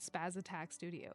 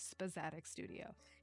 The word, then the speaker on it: Spazzatic Studio: I'm so sorry you've had to see the ups and downs of Spazzatic Studio. And yeah, that's how you pronounce it. It's not Spaz Attack Studio. It is in fact Spazzatic Studio.